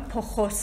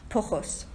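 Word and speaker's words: πτωχός: استفاده میکنه، فقیر در روح، یونانیش اگه من تلفظ درست بکنم پخوس هستش، پی ت او س ه او اس، پی تی او سی اچ او اس به انگلیسیش، پخس هستش که وضعیت کسی رو توصیف میکنه که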